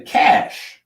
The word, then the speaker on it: cache: The cash cash.